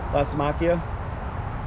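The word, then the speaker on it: Lysimachia: creeping Jenny, but how's it pronounce it? Lacimachia.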